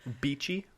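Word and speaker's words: Beechey: So, by early 1846, they were about halfway through the icy archipelago when they decided to stop at Beachy Island uh to hold out for the winter. Beachy.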